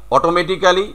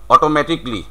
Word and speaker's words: automatically: অটোমেটিক্যালি আমরা বলছি, বাট ইট ইজ হলো অটোমেটিকলি।